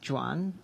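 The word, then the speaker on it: Joan: should also just say for folks who are called Juan in this country uh it is spelled Juan gares but the catalonian form of Juan is Jan um uh so Jan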